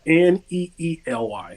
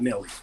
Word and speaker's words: Neely: It's Neely, not Nelly.